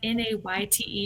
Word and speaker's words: Nayte: I was like, oh, it's just Nate. Yeah, it's just Nate.